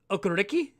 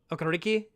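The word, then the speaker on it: Okereke: okariki so that it's the last two e are pronounced like e but the first one's an a okariki is it key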